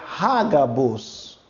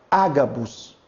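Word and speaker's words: Ἅγαβος: Talvez você deve estar se perguntando, por que não Agabus? É porque aqui tem um sinal chamado sinal de aspiração ou aspirado. Quando esse sinal ele está nesse formato, você vai adicionar o H para ter um som de R, um R fraco, como de hot dog. Tá ok? Por isso será Hagabus.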